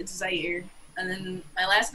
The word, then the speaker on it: Zaire: Yeah, it's Zaire, and then my last name I guess is technically French, so it would be pronounced, but it's pronounced over here.